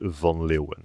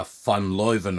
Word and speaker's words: van Leeuwen: can do that one, but the surname is Von Lewen. Lu. See, cuz I thought it was an F. I thought it was an F, a funloven or something.